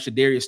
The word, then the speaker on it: Shadarius: Uh then right after him you have Shadarius Toodel. Uh I spelled his name wrong. It should be sh not Sudarius. That's Shadarius.